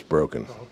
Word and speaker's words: Broken: Well, but you know, pretty good track record in Caleb's new book, The Legend of, I'm going to pronounce it Brocken, but it might be. It is Broken.